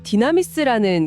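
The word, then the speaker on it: δύναμις: 네, 여기서 쓰인 능력이라는 단어가 헬라어로 디나미스입니다. 왠지 좀 익숙한 발음이지 않나요? 디나미스요? 약간 다이나마이트랑 비슷한 것 같은데요?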